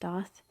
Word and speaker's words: Daith: Daath piercing it's felt like death but it's pronounced death and it goes up in like one of